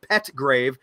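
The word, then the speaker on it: Pettgrave: that correction there to spell his last name p g r a ve because it's Matt petgrave say his name 60% of the media Outlets are saying a person was arrested Matt petgrave was arrested and I said his name wrong so anyway thank you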